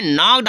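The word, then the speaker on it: knock: तो नॉक उसी केस है, जैसे नो, नॉक।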